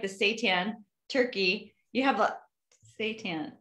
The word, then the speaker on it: seitan: but it's just nice, especially with like the seitan turkey.